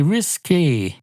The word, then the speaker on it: risqué: You have to say risqué. I think it's R-I-S-K. R-I-S-K. Oh, feck. I've forgotten how to say the letter S. It's R-I-S-K-A-Y. That's how they say it, except they don't spell it out like that.